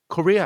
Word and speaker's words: courier: And in this case, the courier has three syllables, and the stress point is in the first syllable. You will notice that sound ku is the same sound that we find in the word could, for example.